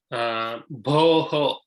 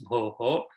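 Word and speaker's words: भोः: So, bhoho. So we have to pronounce the visarga completely. It's not bho, it's bhoho. And then punaha, it is not punah. It's not half visarga, it is full visarga.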